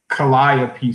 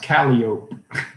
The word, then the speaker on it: Calliope: And other things in Louisiana, like Calliope Street. In New Orleans, it's pronounced Calliope. She lives off Calliope Street. Like everybody else would say Calliope, right? Calliope.